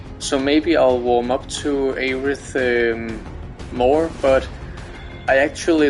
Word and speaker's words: Aerith: And yes, I say Aerith. Aerith, you do you, but that's the pronunciation I heard when I first again with the Kingdom Hearts.